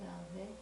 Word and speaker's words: 야훼: 야훼.